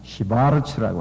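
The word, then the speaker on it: Schwarz: 그리고 그 책을 쓴 저자는 주저자는 크리스찬 시바르츠라고 하는 시바르츠 독일 발음으로 시바르츠라고 하는 사람이 쓴 책입니다.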